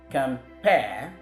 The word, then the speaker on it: compare: bisyllabic or 2-syllable word, the stress often falls on the second syllable as against the first for the noun. So that is why we have compare as the action word.